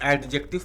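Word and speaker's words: adjective: आप क्या करिएगा कि ए और डी और जे के बीच में डी को साइलेंट करिएगा एडजेक्टिव पढ़िए ठीक है ये तो एडवर्ब ठीक है लेकिन एडजेक्टिव नहीं बोला जाता इसको एडजेक्टिव बोला जाता तो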